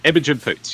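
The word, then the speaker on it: Imogen Poots: Imagigen Poots.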